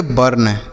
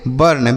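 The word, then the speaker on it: burn: यू के साथ अगर केवल आर लिखा रहे तो इस यू का उच्चारण अ हो जाता है।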